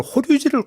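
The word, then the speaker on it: 法隆寺: 이런 말씀드리고 그다음에 지금 친교 행사로 이제 오늘 호류지를 같이 방문한다. 네. 호류지가 뭐예요? 호류지는 이제 법융사라고 쓰는데요. 아 법융사. 네. 아, 그게 일본식 발음 호류지입니까? 맞습니다.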